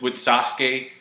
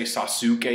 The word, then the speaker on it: Sasuke: Like, the U doesn't sound... Like, with Sasuke, you don't say Sasuke, you say Sasuke.